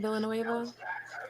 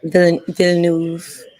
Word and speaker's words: Villeneuve: Denis Villanueva, is that how you say his last name? Villanueva? Villeneuve. However you It's say his name, French. I'm so bad with French.